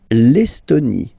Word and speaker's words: Estonie: L'Estonie, final E, not pronounced. L'Estonie. L'Estonie.